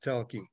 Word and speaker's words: Tholke: Yeah, it's spelled Tholke. Yeah. But it's pronounced Telke.